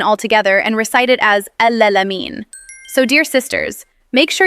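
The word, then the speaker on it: العالمين: Number 2, al-alamin. A common mistake here is to replace the ayn with a hamza and say al-alamin. Or some people skip the ayn altogether and recite it as al-alamin.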